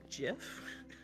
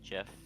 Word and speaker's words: GIF: funny to me because I am one of the people that calls it GIF. Oh my god. So you were like, it's a hard G, and then threw GIF Tokyo in chat.